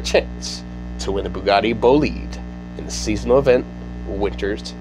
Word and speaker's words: Bolide: French car company, and they pronounce everything in French. So, or Francais, if you will, and it's Bolide.